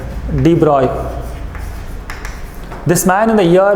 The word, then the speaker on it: de Broglie: explained this later on Louis de Broglie should be pronounced as deployable this man in the